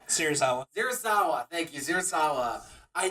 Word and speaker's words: Serizawa: Did they ever explain, by the way, what Surikawa? That's his name. Serizawa.